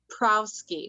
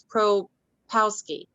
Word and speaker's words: Propowski: Tom Prowski. No, it's Propowski.